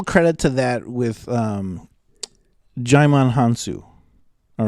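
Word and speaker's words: Djimon Hounsou: give a little credit to that with um jaimon hansu all right that's how you say his name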